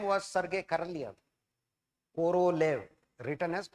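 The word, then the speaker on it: Королёв: His name was Sergey Karvo written as K O R O L E V pronounced as Karv.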